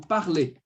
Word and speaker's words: parlez: Quando eu for falar você fala, vous parlez. Esse sufixo, esse EZ, ele vai me dar o som do E accent circonflexe.